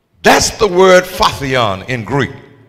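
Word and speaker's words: phortion: ye your own burden it's the word faon that's spelled p h o r t i o n faon and it means to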